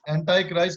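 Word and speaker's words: Antichrist: फिर उसके बाद है 5वां एंटी क्राइस्ट। बहुत सारे लोग इसे एंटाई क्राइस्ट के नाम से भी, एंटाई क्राइस्ट करके भी प्रोनाउंस करते हैं।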